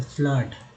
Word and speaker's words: flood: अब देखिए double OD वाला है FLOOD, तो ओ डबल ओ का उच्चारण अ के रूप में हुआ तो फ्लड।